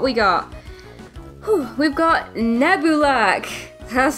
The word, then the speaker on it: Nebulak: Whew, we've got Nebulak. That's how it's pronounced.